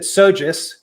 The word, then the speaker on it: SoGES: i'm lead scientist at sojus which is the two syllable acronym for the very large